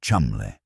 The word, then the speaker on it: Cholmondeley: Ewen Montagu, a brilliant, meticulous naval intelligence officer, and Charles Cholmondeley, pronounced Chumley, a quiet RAF officer with a mind like a steel trap.